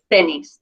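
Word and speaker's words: tenis: El tennis El tennis because the rule is if it ends in a vow and or S it's the second to last syllable that's where the natural stress Falls so it's tennis the dress is on the Eis Lael of course that's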